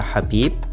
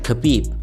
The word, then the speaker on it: Khabib: Sama seperti nama Habib yang seharusnya dibaca Habib bukan Gabib.